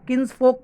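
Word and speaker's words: kinsfolk: तो दोस्तों इसको किन्स फोक कह सकते हैं, ये फोल्क नहीं है दोस्तों, एल साइलेंट है इस वर्ड में।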